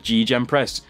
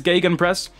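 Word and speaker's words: Gegenpress: me in the comments cuz I called it GJ press like alarm me a it that's that's the English pronunciation GJ press but I've never actually heard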